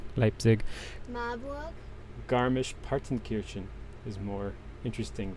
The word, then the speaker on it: Leipzig: Leipzig? Leipzig? I know I was saying it wrong. Leipzig.